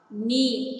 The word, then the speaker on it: knee: These letters are called silent letters. Now, for example, H-O-N-E-S-T, honest. R, H-O-U-R, knee, K-N-E-E, no, K-N-O-W, comb, C-O-M-B, bomb, B-O-M-B.